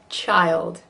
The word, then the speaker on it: child: Really 2 syllables there, because we just put a Y and a schwa in there. Child.